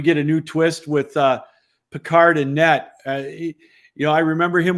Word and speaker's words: Pickard: I thought it was Pickard. Now it's Picard.